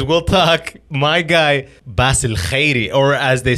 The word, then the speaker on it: Khairy: My guy, Basil Khairy, or as they say, Basil Khairy, right? Yes, sir. You got to pronounce it with the K so they think you're a white dude.